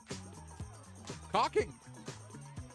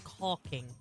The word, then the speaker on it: caulking: What about Cocking. Well, that's caulking. Caulking. No one says caulking. Well, it's supposed to be. There is. No one walks around goes check out the caulk. You say cocking. No, look at the look at the cocking.